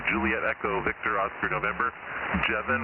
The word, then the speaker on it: Jevin: Jevin rhymes with Kevin.